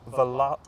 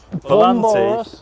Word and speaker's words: Volante: The Aston Martin Vanquish Vanquish Val say it properly. Volante Roadster has been revealed.